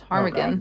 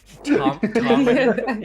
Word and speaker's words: ptarmigan: It's ptarmigan. Rockbird. Ptarmigan. Yeah. The word I can't say. Ptarmigan. That silent P has haunted Isaac the entire game.